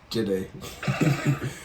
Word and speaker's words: Jide: Jide.